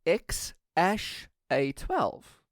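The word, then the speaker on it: X Æ A-12: actually pronounced and according to Elon Musk it's pronounced ex ash a 12 so literally the X is 12 and X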